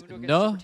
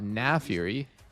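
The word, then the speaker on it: Naafiri: Every other Darkin pronounces it the same. It's Nefiri. I remember seeing him give that reasoning for it. Nefiri and Rast. They're completely different. It's not Nafiri.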